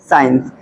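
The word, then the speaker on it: science: है तो अब देखिए एस के बाद सी दिख रहा है आपको इसका मतलब कि सी लेटर यहां पे क्या है साइलेंट है ठीक है साइंस साइंस की स्पेलिंग देख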